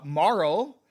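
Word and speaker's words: Marle: Uh, Marl, which rhymes with Snarl, is actually a Princess Nadia of the Guardia Kingdom.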